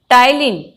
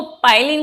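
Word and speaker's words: ptyalin: Human की saliva में टाइलिन, इसको पाइलिन कहिए, टाइलिन कहिए, पी साइलेंट है, वैसे टाइलिन ही बोला जाता है, और इसको टाइलिन का दूसरा नाम है सलाइवरी एमाइलेज।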